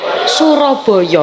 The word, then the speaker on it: Surabaya: Jadi jangan heran jika kota Surabaya, ketika diucapkan dalam bahasa daerah, tidak terdengar seperti Surabaya. Itu menjadi Suraboyo.